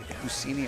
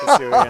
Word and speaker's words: Hisuian: but we're going to choose to leave the Husini Arcanine in. I'm never going to not laugh when you mispronounce Hisuian.